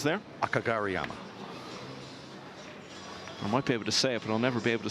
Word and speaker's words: Kageyama: fact he's just level today tall Yukio a Kageyama 3011 world nine ball chip yeah well the pronunciation I was doing earlier was the correct one but absolutely bow to your knowledge of pronunciations there Kageyama I might be able to say it but